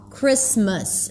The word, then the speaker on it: Christmas: Notice the pronunciation of the word Christmas. It's a relaxed I Chris. Chris. And then it's awah. Christmas.